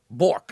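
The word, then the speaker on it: Bourque: B O U R Q U E. Bork. I would say bourork.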